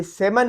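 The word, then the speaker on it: salmon: Talk, बात करते हैं, तो उसमें एल साइलेंट है। और यहाँ पे जो सेमन है, ये मछली का किस्म है, समंदरी मछली का किस्म, ये सेमन है, इसमें एल साइलेंट है।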